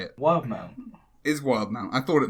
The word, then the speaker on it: Wildemount: Wildemount.